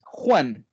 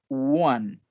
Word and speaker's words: one: sería one one y ojo que no es juan es one tenemos que partir con